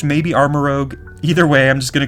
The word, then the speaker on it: Armarouge: Now, it could be Armarouge, but usually Rogue is spelled O-G-U-E, whereas this one is O-U-G-E, which is typically pronounced Rouge, I think. So I think it's called Armarouge, maybe Armarouge.